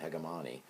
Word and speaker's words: hegemony: wrong to call it hegemani in fact in some European countries that's how it is pronounced so anyway hegemony it speaks into dominant